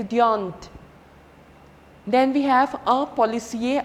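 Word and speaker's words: policier: end then we have our policy a are not to be pronounced our policy a even if a female is there it will be our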